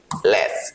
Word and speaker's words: let's: जो हमारा वर्ड है इसको हम बोलेंगे लेस राइट लेस स्पीकिंग में खाली हम इसका यूज करते हैं लेस टी को हम साइलेंट रखते है जैसे बोलते हैं लेट्स